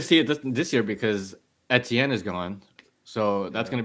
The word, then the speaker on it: Etienne: It's Etienne. Etienne.